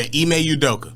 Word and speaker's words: Ime Udoka: So it's Ime Udoka? Yeah, Ime Udoka. Oh, okay. Now, Ime Udoka, who I didn't even know he was Nia